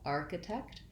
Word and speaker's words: architect: in the last syllable so i want to think about arc uh i think i'll write it with a k just an ark just like the word arc arc uh architect um watch for making sure that you have the kt at the end text text architect uh